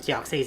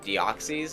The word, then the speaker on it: Deoxys: Is it Deoxys or Deoxys? Well, it's derived from like DNA, which is deoxyribonucleic acid. So deoxy, I guess, makes sense. Like That's how I say it.